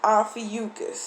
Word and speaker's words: Ophiuchus: Okay, so the pronunciation is Ophiuchus.